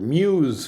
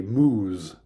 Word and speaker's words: muse: or in Dublin and in both cases it would be pronounced Muse it's not the case that in New York they say moose that's the sound a cow makes um so that that